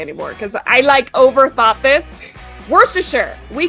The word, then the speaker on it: Worcestershire: I hope I pronounced this word right. Worcestershire sauce was invented here.